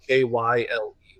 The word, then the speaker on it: Kiel: Kyle, K I E L is what it's spelled. Yeah.